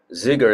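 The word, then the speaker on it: Dzigar: Zigar is spelled D-Z-I-G-A-R.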